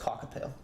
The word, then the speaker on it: kakapo: And I think it's pronounced cockapoo.